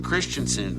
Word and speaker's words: Christensen: good because they keep i got memos that say uh it's hayden christensen i said well i said that they said no you said christian haydenson i said oh